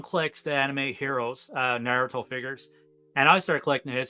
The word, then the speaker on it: Naruto: you're into like uh I'm gonna botch this naratu is that how you say it narut yeah Naruto if you're into them in Dragon Ball Z